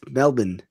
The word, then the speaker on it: Melbourne: some fancy-schmancy conference in Melbourne Melbourne and that's not how you say it's Melbourne I say however I